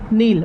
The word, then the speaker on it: Nile: Okay, तो NILE नील। Okay, ये नदी, इसको एटलीस्ट अगर हम लोग देखें तो प्रोनाउंस नाइल टाइप का हो रहा है, बट ये नील ही होगा।